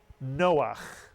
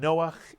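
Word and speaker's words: נֹחַ: 2 vowels, 2 syllables. Noach. And Noach is the character Noah from the Torah and the story of the flood.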